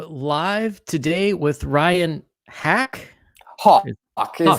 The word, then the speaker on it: Haack: Hawk is Hawk. how it's pronounced.